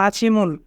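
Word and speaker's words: 아침을: এখানে বাচ্চিমের পরে ইয়ং থাকার কারণে বাচ্চিমটি ইয়ংয়ের স্থানে যাবে, তাই উচ্চারণ হবে আছিমুল।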